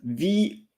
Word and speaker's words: vous: Like the U in English is not the U in French in terms of pronunciation. So U, the letter in English, is U in French. And most of the English-speaking people are saying OU. But V-O-U-S, vous, V-U, vu.